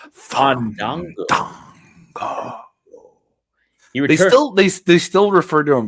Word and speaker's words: Fandango: No, you have to say it right. Fandango.